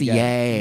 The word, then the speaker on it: Ye: So, it's pronounced Yay.